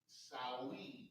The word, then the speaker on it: Samhain: Halloween origins date back to the ancient Celtics festival of Samhain, pronounced Samhain. Mm-hmm.